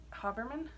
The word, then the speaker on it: Haberman: she say her name I always say Haberman but on her last video she pronounced it huh Berman Berman yeah she I noticed that she pronounced it different sorry wasn't saying it